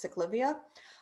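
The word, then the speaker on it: ciclovía: can hear me is the siklavia idea i believe that in cities other than los angeles it's pronounced sick livia the idea is that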